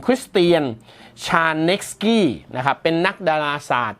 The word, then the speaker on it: Krisztián Sárneczky: ชาว ฮังการี นะ ครับ ชื่อ ของ เขา ถ้า อ่าน ออก เสียง เป็น ภาษา อังกฤษ เป็น สำเนียง อังกฤษ คือ คุณ คริสเตียน ชานก กี้ นะ ครับ เป็น นัก